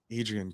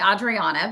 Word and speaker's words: Adriana: i'm good thank you it's actually adriana but that's it adriana i apologize it's a mouthful yeah i mean four syllables and just your first name is a lot yes i'm used